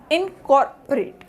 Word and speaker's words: incorporate: So COR is the primary sound. The next is O has the reduced sound, so the word pronunciation is incorporate.